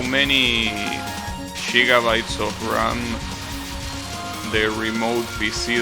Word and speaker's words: gigabytes: In Spanish we pronounce it as gigabytes.